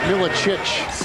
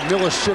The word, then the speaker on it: Milicic: And it is pronounced Milicic. They go inside with Sharif Abdur-Rahim. No, you were right. But we've heard a lot of Milicic from a lot of people.